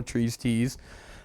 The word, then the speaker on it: Trees Tees: So basically, Trees Te's is just like, you know, his tease. That's that's how he came up with the name. It it rhymes. It's a good name, you know, Trees Tease.